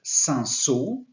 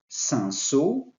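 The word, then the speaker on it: Cinsault: then a great variety called sanso that's the pronunciation sanso and we have also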